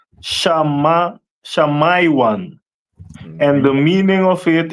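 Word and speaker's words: שמעון: And Simeon is pronounced in the Hebrew as Shamaiwan.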